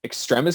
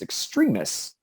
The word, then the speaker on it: Extremis: in this film that it's pronounced extremis because i'm pretty sure everyone assumed it was pronounced extremists but whatever that's again